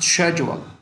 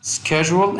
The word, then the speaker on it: schedule: Sometimes it's pronounced schedule. It has 2 pronunciations, schedule and schedule. Both of them are right.